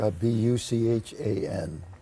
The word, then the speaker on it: Buchan: There's a character, Buchan. Buchan, how do you pronounce it? Bucking, yeah.